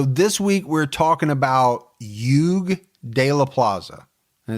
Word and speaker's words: Hugues: There's a lot of silent letters in it. Use my hook on phonics and you got it. It looks like Hugues, but the way I understand it, it's pronounced Hugue.